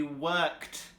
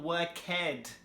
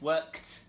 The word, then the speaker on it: worked: So to pronounce these words in the past, we simply add the T sound at the end. For example, with work, it will be worked. So you can hear it's k-t. It's not worked, or it's not worked with a D. It's worked.